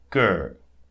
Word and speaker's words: cœur: We said when you have C followed by O, A, and U, it creates hard C, so K. Okay, so cœur, cœur, cœur.